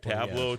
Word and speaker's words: Tableau: And, uh, I hope they're listening so they hear me actually pronouncing the name of their company correct. Tableau T- A L O.